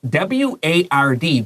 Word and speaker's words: ward: It's W-A-R-D, but 这个 A-R 发什么 O-R? It's a hospital ward.